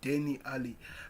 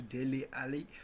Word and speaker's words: Dele Alli: I used to pronounce Dele Alli as Denny Ali. Until now, I'm trying to correct myself to Dele Alli.